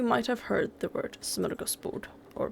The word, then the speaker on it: smörgåsbord: I'm gonna cringe at this because I don't like saying words incorrectly when I know how to say them correctly. Smörgåsbord. Smörgåsbord. It's a Swedish term, and it means to